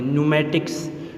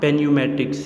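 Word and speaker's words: pneumatics: Student आपने इसको pronounce इस तरह करने कि पी को साइलेंट रखना है और इसको एन से स्टार्ट करने। न्यूमेटिक्स, नॉट पेन्यूमेटिक्स, इट इज़ the word न्यूमेटिक्स।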